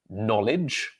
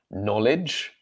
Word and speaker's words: knowledge: The first one, the word is pronounced knowledge, knowledge, knowledge. So the silent K at the beginning, the consonant sound at the beginning of this word is n, knowledge.